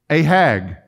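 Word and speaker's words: ענג: This word delight in the Hebrew, let me pronounce it for you. Ahag.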